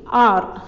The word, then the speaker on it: hour: அதே மாதிரி ஆர், HOUR வந்து ஹவர் கிடையாது, இட்ஸ் அன் ஆர்.